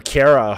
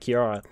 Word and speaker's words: Cara: apparently her name is Cara not Chiara so Cara there you go Cara so we have